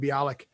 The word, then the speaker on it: Bialik: but mayam bialik so that is how you pronounce her name bialik she has a new uh show out called